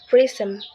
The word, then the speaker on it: prism: For example, in the word prism, the first syllable pris is stressed, while the second syllable m is not.